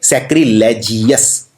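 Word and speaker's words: sacrilegious: लेकिन इसमें जीएस जो है इसमें ओ भी आता है, तो यू भी आता है ओवस, तो इसको जीओवस की तरह प्रोनाउंस कीजिए, सैक्रिलेजियस।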